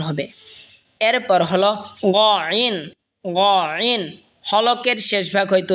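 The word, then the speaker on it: نون: বা যেখান থেকে উচ্চারণ হয়েছে সেখান থেকে মিমও উচ্চারণ হবে। এরপর হল নুন। নুন যেহবার আগা তার বরাবর উপরে তালের সঙ্গে লাগে উচ্চারণ হবে নুন।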